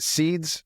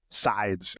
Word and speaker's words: Sides: and then this girl is it Seeds? Saids how do you say your name? Sides.